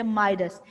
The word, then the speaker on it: Midas: इसको आप प्रोनाउंस कैसे करेंगे? माइडस.